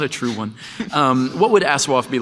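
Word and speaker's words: ASOIAF: And the question posed was, what would Aswaf, which is how you pronounce the... Aswaf is correct. Aswaf.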